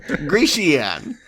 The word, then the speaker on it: Grecian: I think you were adding an extra syllable. Grecian.